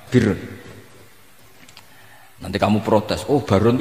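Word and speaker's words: بر: Ya kalau di isim fa'ilnya umumnya guru-guru kita baca barin, tapi untuk masdarnya, untuk kebaikan bacanya apa? Birun.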